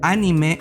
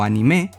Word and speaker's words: anime: Anime o anime, depende cómo prefieran pronunciarlo, es el nombre que